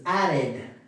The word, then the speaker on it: added: Ad. No es ad, ¿okay? No es la misma e que en español. Es una suena más como una i.